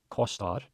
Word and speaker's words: kostar: And then kostar. The important thing with O's, with no accent or anything above them, it's like you're opening your mouth up. You start it small and you open it up. So it's oa, kostar, hvað kostar.